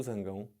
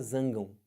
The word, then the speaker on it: zangão: mas também pode falar zangam estranho para caramba né o zangam mas é o marido da abelha é o mesmo cara só que você pode falar de duas formas diferentes aqui ó duplex